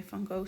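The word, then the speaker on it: Van Gogh: have that many colors or if i can just say my phone set because i'm dutch so why would i pronounce it in the english way you see me trying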